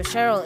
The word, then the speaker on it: Cheryl: So she's like, hey, okay, so Cheryl is in there. Our pet name for her is Cherry, because mostly we use Sheng. So our pet name for her at home is Cherry, but it's pronounced Cheryl.